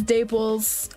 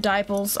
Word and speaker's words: Daiples: welcome to my stream my name is daples um or you can pronounce it dipoles i don't care some people pronounce it differently i've been called diaper